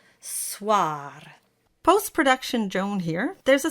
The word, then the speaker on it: soir: And of course, we always flip the R at the end. Soir.